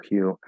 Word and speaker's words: hue: So we have the H sound, right? It's just breath. And in these particular words, they're spelled U, but we know sometimes there's words that spelled with U that are spelled with U that actually have a Y sound before the U part.